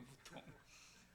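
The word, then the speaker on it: mouton: 영어로 양고기가 뭐죠 맨유에 불어로는 그 버튼이 이렇게 됩니다 아까 하고 비슷한데 발음이 이제 무통이에요 무통 아까 여기 하나 들어가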